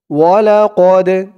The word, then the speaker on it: ولقد: ওয়ালাকদ, ওয়াও জবর ওয়া, লাম জবর লা, ওয়ালা, কফ দাল জবর কদে, ওয়ালাকদে। এই দালটা হচ্ছে কলকলার হরফ, ধাক্কা দিয়ে পড়তে হবে।